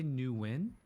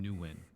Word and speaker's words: Nguyen: way of saying it i say new win but i've had vietnamese people tell me i'm saying my own name wrong which i don't know we live i live in california this is how it's said here wait uh how chewy is saying it's it's it's win i would say win that's the closest one close like w-i-n it's